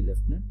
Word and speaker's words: Lieutenant: we say kernel and the second one is Lieutenant and even though we say left nut it is actually spelled l-i-e-u-t so that's right the